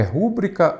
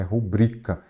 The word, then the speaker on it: rubrica: tivesse colocado ali é rúbrica ou rubrica Será que seria a mesma coisa gente a pronúncia desta palavra é rubrika ela é a sílaba forte é a penúltima interna é uma paroxítona cuidado é rubricar paroxítona